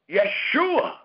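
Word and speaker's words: ישועה: called Hebrew that we have today is called Yeshua did y'all hear that it is called yua it is spelled y e s h u a h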